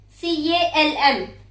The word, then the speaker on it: calm: C-A-L-M. Calm. Very good. Which letter we did not pronounce? C-A. Ka we pronounced. Calm. M we pronounced. What we missed? Yes. So, L is silent there.